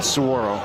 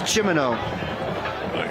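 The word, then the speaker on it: Cimmino: it's a timeout timeout sorro am I am I pronouncing that correct it's chimo really you're going to be there that you ask chimo it's it's c i m m i n o how do you get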